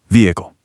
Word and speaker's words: vehicle: That harsh H sound in the middle of vehicle kind of forces your throat to stop and start again, but native speakers just drop that H entirely. The vowels glide right into each other. Vehicle. Just like that vehicle.